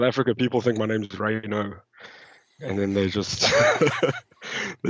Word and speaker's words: Rayner: As you can see with me tonight is Rayner. I hope I'm pronouncing that right. Am I pronouncing that right? Yeah, Rayner.